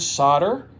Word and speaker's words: solder: Here in the United States of America, most of us pronounce the word solder with a silent L.